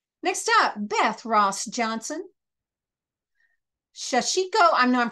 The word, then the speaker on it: sashiko: I think you put a little bit more emphasis on the second syllable. So It's like Spanish, it's a little more even, you know, Sashiko.